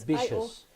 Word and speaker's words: ambitious: If the syllable here, if the suffix is Ambitious. IOUS, like Yes. ambitious, we stress also the syllable before the suffix.